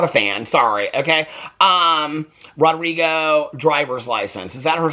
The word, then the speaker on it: Rodrigo: um read the that I say her name wrong am I saying is it Rodrigo why did she well she said she said oh no she did say I guess it's Rodrigo I didn't know that